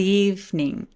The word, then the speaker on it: evening: good evening 이라고 하지 않고 good evening, evening 이라고 소리 냈죠? 두 번째 이가 사라지는 현상이 생겨요.